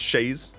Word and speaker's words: chaise: And chaise, it's pronounced chaise. I'm gonna call it the cheese.